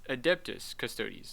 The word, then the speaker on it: Adeptus Custodes: contrary, the game's all-male adeptus custodes faction, custodes or custodes, not sure. Oh, adeptus? What? What is that? It's adeptus custodes, not adapt.